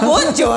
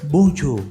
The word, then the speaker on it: bonjour: Bonjour itu apa bonjour tau? Karena pembacaannya seakan-akan itu bonjour gitu ya. Kalau orang Prancis itu huruf terakhir nggak dibaca, nggak pernah dibaca aja.